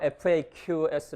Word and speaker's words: FAQ: 문제의 본문에 나온 데 이거 팩스 라고 일까요 faqs 라고 일까요 여기보면 파란 편을 미칩니다 faq 스가 표준발음 이고요 팩스로 더 발음 가능합니다 그렇게 되면서 제냐 faq 라고 발음하면 이니셜 있어 색 작업 발음하면 매크로 닝 사전에 둘 다 나오고 실제로 둘 다 됩니다 그래서 문제의 이게 나왔을